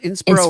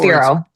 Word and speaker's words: Inspiro: What do they think that Inspiro, is it pronounced Inspiro or Inspiro. Inspiro?